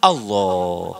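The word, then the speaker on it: الله: Maka bacanya juga harus diizgomkan. Allah, jangan diijarkan. Ini mah Allah, kurang atau gitu mah. Ya Allah, gitu amat sih. Jadi kurang ma'rifat. Harus diizgomkan, di situ kan ada tasjid ya.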